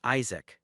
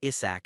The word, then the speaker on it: Isaac: So he wearingly reminded them that his name was Isaac, not Issach as they kept calling him.